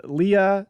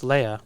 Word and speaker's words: Leia: bear ghost qui-gon and leah spunk with the holster carrie careful about putting spunk and a ten-year-old in the same sentence there brian it's pronounced leia by the way leia sorry i want to